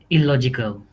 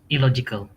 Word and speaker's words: illogical: pronounce it. Illogical. Illogical.